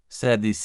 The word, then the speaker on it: Sethe: The pronunciation that Toni Morrison confirmed is SEH-thuh rhymes with Beth-uh. Let's break it down. SEH, like the beginning of seventh-thuh, like the thuh sound in mother.